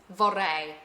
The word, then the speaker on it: vorrei: Vorrei. But if you can't roll your R's, don't worry about it. You could just say vorrei and they'll understand you.